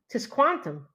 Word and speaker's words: Tisquantum: It's his name is Tis Tisquantum. That's kind of cool. Tisquantum. So like quantum with a tis tisquantum.